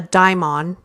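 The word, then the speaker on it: Daimon: they call it a Dion It's spelled kind of like demon but it's not demon but it's a Dion okay now this is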